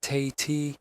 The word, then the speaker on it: Tate: Evelyn Carver, pronounced Carver, and Roland Tate, pronounced Tay-T, were in custody, facing charges of kidnapping and extortion.